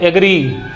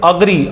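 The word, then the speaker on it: agree: इसको बहुत लोग क्या पढ़ते हैं? एग्री। तो that is the pronunciation of this is अग्री।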